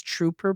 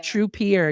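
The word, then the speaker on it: Trupeer: I hope I'm pronouncing it right because I know it's it looks like it's trooper but I I thought it was trooper at first. It's true. Yeah. Yeah. True pier.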